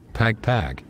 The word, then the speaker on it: Pagpag: Yes, Pagpag.